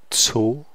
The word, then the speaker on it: zu: Ich arbeite zu Hause. Zu. So this is not a Z, it's a Z. It sounds like Z. Z. So you have, basically this is T and S pronounced as one sound.